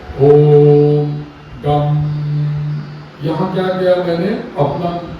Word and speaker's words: गं: गम इनका बीज है लेकिन गम का उच्चारण हम जो करते हैं ना तो गम वाला भाषा में जो गम होता है ऐसा हम करते हैं तो गम का उच्चारण तालुस्त होना चाहिए।